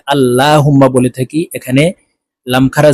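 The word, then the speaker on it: اللهم: সহি শুদ্ধ হয়ে যাবে আল্লাহুম্মা আমরা অনেকে এই যে আল্লাহুম্মা বলে থাকি এখানে লাম খারা জবরে লা লেখা আছে কিন্তু এখানে ল বলে বলে উচ্চারণ করতে হবে অর্থাৎ মোটা ভাবে উচ্চারণ করতে হবে কারণ আল্লাহ শব্দের আগের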